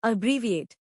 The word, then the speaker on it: abbreviate: इसका प्रोनाउंसिएशन है अब्रीविएट।